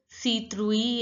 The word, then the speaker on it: citrouille: I is pronounced as E. T is pronounced as th. And I double L E sound is pronounced as citrouille. E in French. E. So it becomes citrouille.